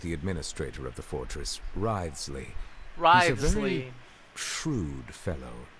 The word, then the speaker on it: Wriothesley: I mentioned that I have had personal dealings with the administrator of the fortress, Wriothesley.